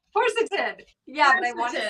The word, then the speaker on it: quercetin: This one has quercetin, and that's an antioxidant powerhouse.